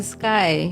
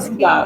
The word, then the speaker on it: Sky: Non me li prononce sky. Mais souvent ma ski.